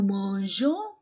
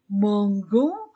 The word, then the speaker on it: mangeons: il elle mange nous mangeons et je fais attention à la PR prononciation pour ne pas prononcer Mangon j'ajoute e après la lettre je nous mangeons seulement avec nous vous mangez e